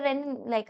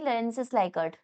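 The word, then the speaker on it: Rensis Likert: रेनिन लाइक नहीं रेंसिस लाइक। ठीक है? वही मैं सोचूं। कुछ तो गड़बड़ हो रही है मेरे प्रोनाउंसिएशन में। लिखा ही गलत है। रेंसिस लाइक है।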